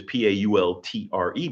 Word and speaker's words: Paultre: My last name is the same phonetics as Lecote because Pault is my name is Paultre, but you don't pronounce the re. It's Pault.